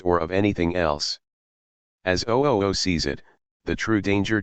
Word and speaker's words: OOO: The subject of the book now before you is object-oriented ontology, abbreviated OOO, and pronounced OO, a relatively new school of philosophy that takes Socrates at his word.